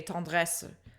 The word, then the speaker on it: tendresse: She's singing the word tendresse, which if you were a French speaker speaking it, you would just say tendresse, and you don't pronounce that ending schwa.